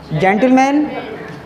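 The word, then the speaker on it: gentleman: क्या कह रहा है, जी के बाद ई आई बाई हो, तो बताओ ई आई बाई है, तो वहाँ जी का प्रोनाउंसिएशन ज़्यादातर जा जैसा होता है, तो ये क्या पढ़ा जाएगा, जेंटलमैन, आई हैगी, तो क्या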